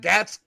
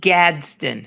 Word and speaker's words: Gadsden: that right there is is that gats gats say his name for me pamela gadsden a rondae gadsden say it with the d gabs okay but he